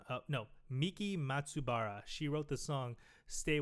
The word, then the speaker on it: Miki Matsubara: By uh I got to pronounce her name. I don't want to fudge it. Good luck. Uh her name is Miki Matsibara. Oh no. Miki Matsubara.